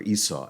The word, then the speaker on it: Esau: am I speaking of ASV or Esau as he is as it is pronounced in English in this week's portion